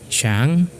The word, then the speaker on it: 上: the standpoint of mandalin and fukan it is pronounced as Shang and Shang and um so that's it that's